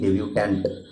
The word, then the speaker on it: debutant: ডেবিউট্যান্ট। দুটো ওয়ার্ডের প্রোনাউন্সিয়েশনই কিন্তু ডেবিউট্যান্ট হবে, কিন্তু একটা ওয়ার্ডে একটা এক্সট্রা বসবে। সেটা কি? DEBUTANT, যেটা ডেবিউট্যান্ট, এটার প্রোনাউন্সিয়েশনও ডেবিউট্যান্ট হবে, কিন্তু এটার মিনিং কি হবে?